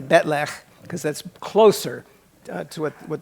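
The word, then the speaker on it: bat'leth: But somehow they miscopied it or something, and it ended up in the script like that, pronounced batleth, which contains non-Klingon sounds, but that's the way people kept saying it when they're talking English anyway. So I Klingonized it to Betlech, because that's closer to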